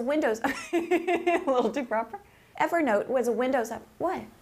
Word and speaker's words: Evernote: Evernote was a Windows app... What? You're saying Evernote.